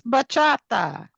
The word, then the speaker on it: bachata: Well, in her defense, I also cannot pronounce it. So, it's bachata.